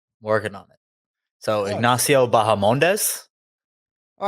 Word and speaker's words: Bahamondes: The H is silent. Correct. See, I said it more of like a Spanish way, though. You know, so that's what I get. You know, you injected the H, and that is where you faltered.